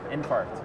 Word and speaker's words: Infarkt: year apparently all right pronounce this for me though infar infar okay like an infarction in yeah this it's check